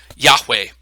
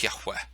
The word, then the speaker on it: Yahweh: other, and so they roughly transliterate to the kind of the English characters YHWH, which we would pronounce Yahweh, something like that.